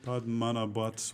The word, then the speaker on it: Padmanabhaswamy: So the well, you were pronouncing it, Sherman. Here, how do you? Padmanabhaswamy.